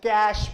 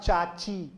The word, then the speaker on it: cache: called as cash memory it has to be pronounced as cash memory and not cha-chi memory cache memory cache memory